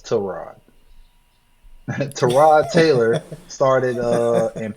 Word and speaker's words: Tyrod: And his week three, uh, apparently it's Terrod. We've been saying his name wrong all these years. It's not Tyrod, it's Trod.